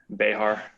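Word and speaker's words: Bexar: bear county mayor county bubba what'd i say behar sorry it's a lot better than most people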